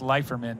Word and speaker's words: Leiferman: uh I just want to say this out loud it's Chris leiferman anyway I'm just saying that I don't even correct anyone but that's what I uh that's what I understand it to be pronounced and uh he told